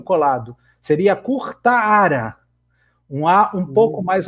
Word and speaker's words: Curtara: Ele falou que o mais próximo seria Curtara mesmo. É que, na verdade, ao pé da letra, seria como se tivesse 2 A's. Um A pequenininho colado. Seria Curtara.